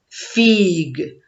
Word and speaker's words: figue: Ici, je prononce G parce qu'après la lettre G, il y a la lettre U. Et après, on a mis la lettre E.